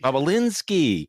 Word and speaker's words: Bobulinski: The other name is, how do you pronounce it? Bobulinski, Bobulinski. Bobulinski.